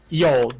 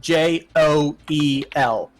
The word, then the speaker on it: Yoel: Yoel, Joel. Oh, Joel. Nope. The J is a Y.